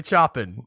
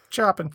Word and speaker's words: Chopin: right i was like i'm pretty sure if Chopin is like say shopping just in case hahaha we know that these CH isn't sure we're not gonna say chopping play the I were pretty sure that's pronounced the right way Chopin stupid brain this isn't